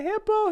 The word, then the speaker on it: hippo: They say, "I'm being chased by a hippo, hippo, hippo." So hippo, that no longer is the schwa sound. If it's shorter, it is pronounced in full, clearly as the O sound.